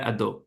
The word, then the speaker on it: Hadot: the pronunciation I'm sorry Pierre hadot or had Pier ad got it okay there we